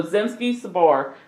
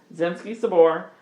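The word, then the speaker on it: Zemsky Sobor: love it uh so zimski Sabor which by the way I've actually spent some time figuring out how to properly pronounce some things that's what yes uh yeah that's and that is how you say it based on my internet searches so zimski Sabor uh directly translates to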